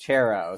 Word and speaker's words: Charrow: of the the wedding that it was actually pronounced chero so uh it took